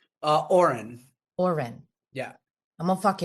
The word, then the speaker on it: Orin: Oren.